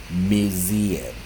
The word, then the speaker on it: museum: Third syllable, weak syllable, weak vowels without U as museum, museum, museum。